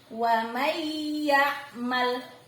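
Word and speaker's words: وَمَنْ يَعْمَلْ: Suara N hilang, melebur ke huruf yang ada di depannya, yakni suara huruf ya. Wa may ya'mal, ditekan kuat ya. Wa may ya'mal, meleburnya kuat lagi.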